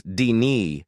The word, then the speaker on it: Denis: That's why the pronunciation is Denis, like in the Blondie song.